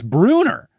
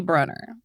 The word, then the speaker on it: Brunner: How do people keep thinking it's Bruner? I mean, at this point, I gotta think maybe Rick thinks it's Bruner. And we love Rick, but as he has admitted, he does pronounce his own last name wrong. So like, maybe he was like, yeah, guys, 2 N's, but it's Bruner. I don't know. It's definitely Brunner.